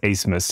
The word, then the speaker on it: Abmas: in Max acemus uh spelled a b m a s but pronounced acemus and he was uh